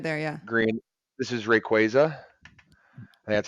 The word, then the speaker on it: Rayquaza: Advance SP right there yeah Green this is Rayquaza and that's how you pronounce it a little keyboard I'm playing Pokemon